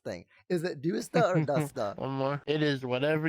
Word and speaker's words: Dusta: then the a but the correct way to pronounce it is dusta I think it sounds really cool as dusta